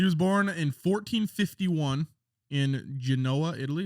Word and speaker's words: Genoa: born in 1451 in genoa italy is that how he's pronounced that do you know like the salami g-e-n-o-a right genoa italy he started the exploration